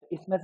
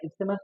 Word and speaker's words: isthmus: ठीक है, बहुत जगह पे जो है टीएच को साइलेंट पढ़ते, इसमस भी पढ़ते उसको, इस्टमस या इसमस भी पढ़े। ठीक है, तो आप लोग जो है इस्टमस पढ़ो उसको, क्यों, क्योंकि आप लोग